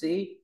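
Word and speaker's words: 士: dài sổ ngang dưới ngắn hơn đọc là Sĩ đọc là s Đọc mạnh ch s s sử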